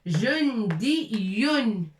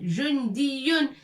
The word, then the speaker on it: جندي: جندي ياء الأخير avec 2 points et نشدد على الياء. Il faut appuyer fort sur ياء. جندي c'est pas جندي c'est pas جندي non. جندي لا بد من الشدة.